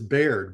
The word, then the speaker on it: Beard: that beard Blackbeard b-e-a-r-d in 1718 would have been pronounced as Baird b-a-i-r-d black beared very